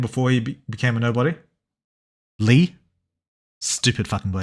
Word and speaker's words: Lea: and becomes a nobody I think it's pronounced Leah no it's pronounced Lee like what what's his name SX uh speaks to him and he pronounces it Lee it's not Leah pretty sure all the